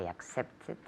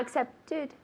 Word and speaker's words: accepted: Yesterday I accepted it. Good. And really big though, not accepted. Accepted. Yesterday I accepted it. Very good. So accepted, 3 syllables.